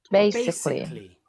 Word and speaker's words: basically: Whenever you see that LLY and sometimes LY at the end, if there's an A, we don't need it. Okay? That is where we can see there is a silent A. We don't pronounce it.